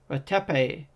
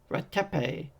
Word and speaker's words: Ratepe: Ratepe! She used all 3 syllables of his name. Ratepe!